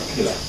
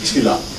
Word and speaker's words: Kiira: I'm told that you don't actually pronounce it as KIIRA. The Kenyans who are here, it's not KIIRA, it's Chila. I think that it is called Chila, and is where you